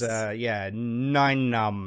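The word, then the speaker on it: Nien Nunb: Your character, the correct pronunciation of your character's name is Nine Numb, like number 9.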